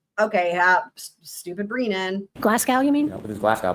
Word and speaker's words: Glasgow: Guzma Koma score. Listen. Glasgow. You mean Glasgow?